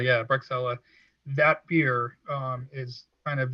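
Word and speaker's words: Bruocsella: The Grand Cru, and I don't remember how to pronounce it. It's like Bruschella or something like that. Bruxella, yeah, Bruxella.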